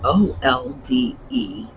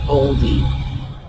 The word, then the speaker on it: olde: So, if you had a word like old, O-L-D-E, you wouldn't be pronouncing it oldie.